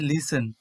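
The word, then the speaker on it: listen: উদাহরণ হিসেবে লিসেন, এখানে যদিও টি সাইলেন্ট থাকছে, সাডেন।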